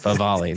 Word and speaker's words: Favale: Favale.